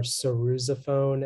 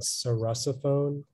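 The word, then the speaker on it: sarrusophone: have everything yeah uh the two pronunciations are cerusophone and cerasophone it's a noun it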